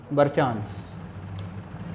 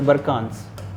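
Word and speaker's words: barchan: सो deposition में सबसे पहला जो स्ट्रक्चर है वो क्या बनता है, बरचांस, है ना, बरचांस या बरकांस, जैसे भी प्रोनाउंस करते हो।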